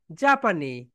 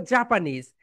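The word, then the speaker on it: Japanese: আমরা আরেকটা বলি জাপানি, এখানে বলবে হবে জাপানিজ।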